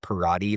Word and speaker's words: Perrotte: My last name is actually pronounced Perrotte, like karate with a P. Oh, Parati. Perrotte.